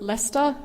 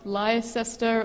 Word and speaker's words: Leicester: in the UK and yes it's spel it's pronounced leester not liester or or anything else um this is my